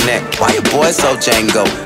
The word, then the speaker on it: Django: Chain on my neck, why your boy so Django? The D is silent, my D is violent.